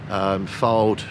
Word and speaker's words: Fylde: Halifax mistake, Fylde, really 2 mistakes, and I thought Fylde we actually played very, very well. Is it Fylde or Flyde? Fylde. Have I said it right? Yeah, you said it right.